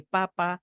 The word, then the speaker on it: papa: La primera es papá, la segunda es papa, es decir, exactamente los mismos sonidos, la misma cantidad de sílabas. ¿Qué hace que papa sea papa y me haga pensar en una papa para comer y que papá me signifique otra cosa?